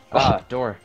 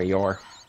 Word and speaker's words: Yor: Dor doing great there. Or Yor. Yor, I wanted to say it right. I said Dor, I think.